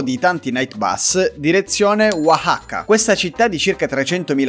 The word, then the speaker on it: Oaxaca: Sì, Oaxaca. Pronunciata perfettamente, direi, è difficile raga pronunciare questa città.